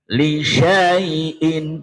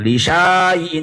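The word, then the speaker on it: لِشَيْءٍ: Lisyaiin. Heeh. Bukan lisaiin tapi lisyaiin. Silakan. Laiin. Karena setelah sin ada alifnya yang berdiri. Ini kalau enggak ngerti dianggap dibaca panjang. Jadi lisyaiin.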